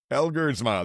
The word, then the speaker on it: Elgersma: I can never pronounce it properly. Down with the Packers. Elgersma.